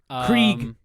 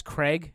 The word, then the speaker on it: Krieg: His name is Krieg. As in Blitzkrieg. Right. Which apparently comic readers are pissed about because they always read it as Craig all these years.